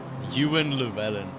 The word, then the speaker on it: Ewan Llewellyn: haven't heard it said before, there's no way you'd get it right. Yeah, yeah. Ewan Llewellyn. I had his dad come in and be like, that's how you say his name.